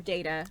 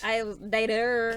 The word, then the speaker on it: data: some reason, I didn't know how to say the word data, or data. Both are correct from what I mean, understand. Both are correct. Data.